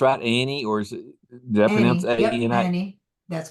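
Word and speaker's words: Ani: is that pronounced right, Annie, or did I pronounce Annie. Yep, A-N-I? Annie.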